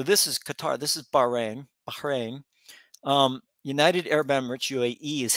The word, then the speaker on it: Bahrain: Qatar, they call it, but Qatar, I think, is the proper pronunciation. That might be me. But so this is Qatar. This is Bahrain.